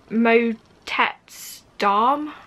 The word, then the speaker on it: Motetz Dam: up the pronunciation and i think it's mo tetz darm i might be saying that wrong um but that's their